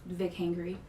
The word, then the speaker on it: Hangry: hard about it and it isn't that complicated you just vic angry so anyways that's how